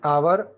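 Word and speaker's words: hour: तो यहां प देखिए एच जो है वो है साइलेंट यहां पर जब बोलने जाते हैं तो आवाज आता है और का और यह जो का आवाज होता है वो वेवेल साउंड माना जाता है तो इसी वजह से हम उसके आगे एन लिखते हैं ठीक है तो यह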